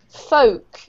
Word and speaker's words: folk: to one of these has a silent l in it do you know which one t uh yes very good folk and um another one